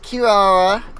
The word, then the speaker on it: Kirara: to say it they they do say it Kirara in the game but also she is an inazuman character so you would assume that she would use Japanese pronunciation for that in which case it would be kilala um well yeah I